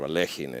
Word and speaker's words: Alekhine: It's you know, Alekhine is, even though sometimes I say so, it's obviously not the right way to pronounce the name of the 4th world champion. So the real debate is if it's Alekhin or Alechin, and then people, fight.